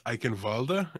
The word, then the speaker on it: Eichenwalde: Don't forget it's Eichenwalde, and Eichenwalde. we'll get yelled at by Germans if we don't say it correctly.